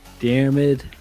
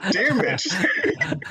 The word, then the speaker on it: Diarmid: Welcome to the Eventing Podcast, and it's your host for the day, Diarm. That's not how you say it, is it? Diarmid.